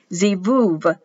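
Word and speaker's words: זבוב: the sound for you zebuv it's pronounced with the v written with the b c v fly z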